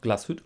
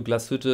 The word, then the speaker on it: Glashütte: and sons ltd dornblüth und sohn jetzt noch glashütte original express video glashütte ist not always the german brands values klassische